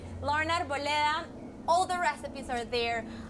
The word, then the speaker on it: Lauren Arboleda: That's the how you pronounce it, the Colombian way. Lauren Arboleda.